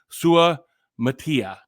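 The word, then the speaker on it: Suamataia: Kingsley sua Matia sua how how do we pronounce this guy's name let's get this right Kingsley sua Matia there you go kind of reminds me of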